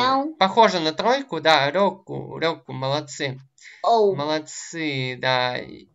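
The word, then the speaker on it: 六: Рёку, это у нас шесть. Шесть, рёку. А рисуется она еще проще. Это она так произносится, рёку, а пишется она еще проще, вот так вот.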